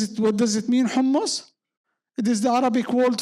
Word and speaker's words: hummus: It hummus. Actually, it is not humus. It is hummus. And do you know what is it? What does it mean hummus?